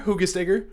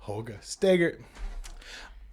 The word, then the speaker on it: Hoogesteger: But he was like, oh, yeah, that's Dutch. That's how you pronounce it.